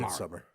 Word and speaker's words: Midsommar: It's not spelled like that. I know it's pronounced Midsommar. Midsummer.